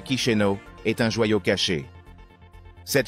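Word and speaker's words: Chișinău: Moldavie avec sa capitale chizino prononcée kichenau est un joyau caché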